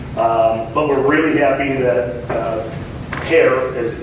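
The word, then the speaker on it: Hoerr: Everybody's slammed, everybody's busy, but we're really happy that HAIR, as it's called, H-O-E-R-R, it's pronounced HAIR, Construction gave us a really good price to get this done.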